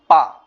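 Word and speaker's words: ぱ: যাই হোক, তো এটা উচ্চারণ কি হয়ে যাবে? পা। হাতে হয়ে যাবে কি? পা। যখন মারু বসবে উচ্চারণ হবে পা।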